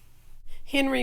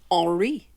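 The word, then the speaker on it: Henri: many unique contributions to the world of art henry matisse was a french artist it's actually pronounced ori matisse he grew up in the northern part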